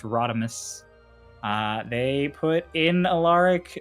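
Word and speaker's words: ROD5: Uh from one Rodmus in our Discord, uh spelled R O D5, pronounced Rodmus.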